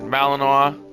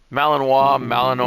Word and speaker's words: Malinois: For the 7-year-old German Shepherd Malinois. I hope that's how you pronounce it. I think so. I've been corrected by Ali a few times when I say that. Malinois.